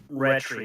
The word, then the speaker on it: Rhetri: Rhetri. It's like retry, but Rhetri. It's a play on retry.